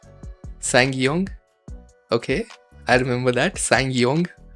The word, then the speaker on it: Sang-yong: It's pronounced Sang-yong. Sang-yong? Okay, I remember that. Sang-yong. Hahaha. Bro, what? What? Sam-yong.